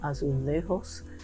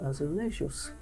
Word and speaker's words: azulejos: spanish style is called azulejos in portugal we have the same word but that's called azulejus because we pronounce the j here and they don't there sometimes i i forget